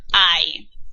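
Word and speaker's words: hay: talk about the verb I it looks like hey but it's not pronounced like hey in Spanish we pronounce it I remember I was talking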